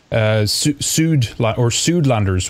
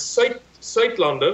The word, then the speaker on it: Suidlander: But tell us just a little bit first, Suidlanders, what is that for those who don't know? Well, I'll pronounce it our way, if you don't mind. It's Suidlander.